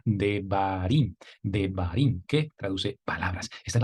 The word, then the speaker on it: Devarim: B en español, la Resh, que es como la R en español, la Yod, que hace la vez de I en español, y también, por último, la Mem, como la M en español, para pronunciar la palabra Devarim, que traduce palabras.